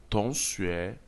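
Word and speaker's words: 同学: La lettre T constitue l'initiale de la première syllabe. Dans la langue chinoise, l'initiale T se lit comme le T français. La finale ONG se lit comme dans le mot gon en français.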